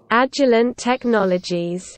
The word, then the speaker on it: Agilent Technologies: Ну вот вам правильное, в общем, произношение от Гугла. Agilent Technologies.